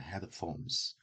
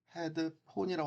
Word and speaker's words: headphones: headphones, put on your headphones. 헤드폰이라고 하는데 이 폰이란 말은 항상 아, 발음할 때는 폰이라고 해야 됩니다. F 발음으로 하면서 headphones, headphones, headphones, headphones, phones, 헤드폰이 아니라 phones, headphones, 그런 headphones.